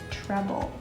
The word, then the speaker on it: treble: called a treble clef sounds like the word trouble but there's an e so it's pronounced treble and it's kind of